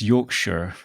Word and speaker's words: Yorkshire: Yorkshire or Yorkshire it's Yorkshire yeah okay I thought because I know Yorkshire puddings yes exactly yeah no you never pronounce the shes unless you're in Lord of the Rings right yes yes okay